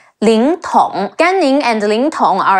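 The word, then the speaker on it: 凌统: Le Ying, Ling, Te Ong Tong, Ling Tong.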